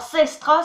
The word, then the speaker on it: sestra: Alors Sestra, ça se dit exactement comme ça s'écrit aussi. S-E-R-T-R-A, voilà, Sestra.